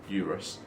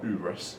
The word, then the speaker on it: Urus: going around in the Lamborghini Urus or Urus from what people are telling me I pronounce it incorrectly um what a price